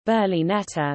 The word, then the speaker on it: berlinetta: The term Berlinetta from Italian, Berlinetta, Italian pronunciation, Berlinetta refers to a sports coupe, typically with two seats but also including 2+2 cars.